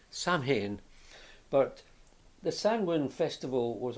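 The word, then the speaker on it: Samhain: in particular which is it's pronounced sanwin but it's it's spelled something quite different it's spelled s a m h a i n saman but the sanwin Festival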